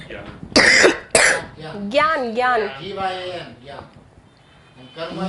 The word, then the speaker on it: Gyan: How do you spell that word? Which one? What you said, Gyan. Yeah. Gyan, Gyan.